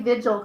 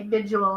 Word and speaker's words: vigil: let that one go at least you say vigil correctly other people say Visual and it drives me crazy but if they I